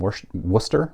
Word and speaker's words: Worcester: the toys division of Gratton and Knight and Worcester Mass I'm gonna get eaten alive by Boston people for almost pronouncing Worcester wrong and the father was believed